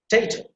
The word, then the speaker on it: potato: See ta sound, the third syllable, that will be emphasized. So you see, potato, potato, potato, potato.